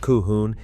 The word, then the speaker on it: Colquhoun: Number 14, Colquhoun, pronounced Cohoon, and the clan that was nearly destroyed by the MacGregors.